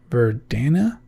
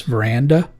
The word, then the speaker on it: Verdana: say it for Dana verdana I just realized I call I actually pronounce this veranda and that's not how it's spelled so anyway I've been